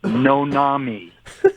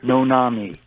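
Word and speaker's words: Noname: it's it's n-o-n-a-m-e no name as one word pronounced no Nami no Nami that's pretty outrageous people most people see it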